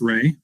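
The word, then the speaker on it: Reaugh: My first name is, T O M, and the last name is pronounced Ray, but it's spelled R E A U G H.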